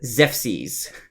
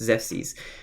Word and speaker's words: Xephxes: This is Zephses. For anyone who's writing notes, the way you spell it is Xephxes. It's Zephses. This is a very old Like man.